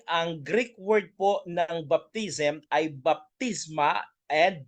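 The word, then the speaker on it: βάπτισμα: mga kapatid, ay ang Greek word po ng baptism ay baptisma and baptizo. Yun po yung pronunciation mga kapatid.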